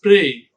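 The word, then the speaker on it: précis: dip Tong here which is a a it's prey then it is C pre it's PR it's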